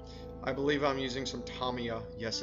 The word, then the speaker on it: Tamiya: this is black i believe i'm using some tamiya yes it's pronounced tamiya if you call them and ask them that's